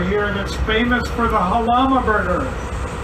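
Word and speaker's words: Jalama: Halama is spelled J-A-L-A-M-A, and it's the Spanish word that came closest to the sound of the Chumash village that was here when the Portola expedition came up the coast in 1769.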